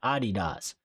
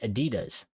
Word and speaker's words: Adidas: Well, because in the UK they pronounce the word Adidas, but in America, in American English, they pronounce it Adidas.